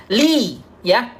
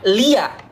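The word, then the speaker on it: لِيَ: Li ya, li. Di sini membacanya bukan lia. Bukan lia, tapi li ya.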